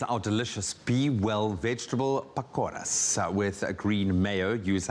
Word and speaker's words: Pakora: Pakoras.